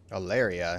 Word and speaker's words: Aleria: Aleria, yeah, I did say it right.